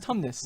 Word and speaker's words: Tumnus: No, it's pronounced Tumnus.